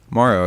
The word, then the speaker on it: Mauro: Mauro? M-A-U-R-O. How would you pronounce that? Yeah. Morrow, yeah.